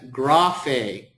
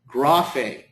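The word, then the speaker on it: γραφή: And this word is pronounced as graphe, graphe, graphe, okay?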